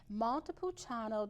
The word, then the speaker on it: Montepulciano: And let me tell you, I had not had this wine before until I met Claudia Corna, Montepulciano di Abruzzo. And I pronounced it correctly, didn't I, Claudia?